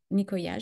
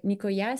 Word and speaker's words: Nicoya: à l'île de nikya c'est s'appelle niikya je pense que ça se prononce donc on est juste